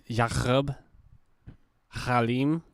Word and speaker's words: Yaqub Halim: It's Yaqub Halim is a special guest today. That's how you say it.